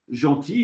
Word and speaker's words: gentil: Un gentil facteur, gentil, évidemment, il est idiot aussi comme mot, hein, puisqu'il y a un L au bout qui ne se prononce pas.